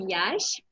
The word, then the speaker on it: Iași: I'm from Romania, more specifically from Iași. It's pretty beautiful and big city. I know lots of people mispronounce it, but yeah, it's really fine there.